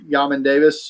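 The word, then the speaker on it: Jamin Davis: It's basically Yamin Davis, or I didn't know that's how you pronounce it.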